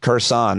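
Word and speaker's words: Kherson: we get specifically to hersan I pronounced it Curson and you forgave me because you said even some Russians do it but before we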